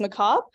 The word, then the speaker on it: macabre: Macabre. It looks funny, but it's pronounced macabre.